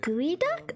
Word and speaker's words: geoduck: And for a sweet little treat because my sister Oh, it's pronounced gooey duck.